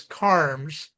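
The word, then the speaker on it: Kharms: His name is unpronouncable. It's d an i l denil. And then his last name is karmms.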